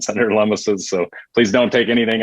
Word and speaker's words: Lummis: You pronounce it Lummis, not Loomis. Lummis like hummus.